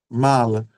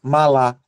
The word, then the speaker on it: mala: Mala. Vocês percebem que não não nós não pronunciamos malá? Malá é mala. Esse segundo Aha é mais fraco, não é?